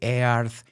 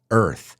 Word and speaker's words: Earth: above and just be careful make sure you pronounce the word Earth correctly I've heard a lot of people say aarth it's Earth then I said but make no mistake make